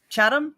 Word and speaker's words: Chatham: city name chat chat chatham silent h for no reason uh his mom was born in chatham ontario and his grandma